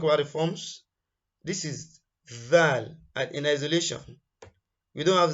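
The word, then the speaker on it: ذال: of it very well it is not Dal it is it is thicker than D it is thicker than D and you want to get okay let's talk about the forms this is zal in isolation we don't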